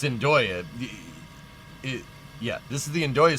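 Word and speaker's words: Andøya: It's Andoya. Yeah, this is the Andoya Space Center. It's way up in northern Norway, like 69 degrees north. That's really far north. Andoya Lofoten Islands.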